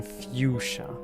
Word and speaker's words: fuchsia: It's U, as in the letter U, sounding out the whole letter's name. U, and then sha.